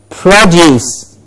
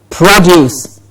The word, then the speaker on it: produce: again, is a very important component of the pronunciation of a word. Yes, present, present, and then we have the next word, produce. Produce.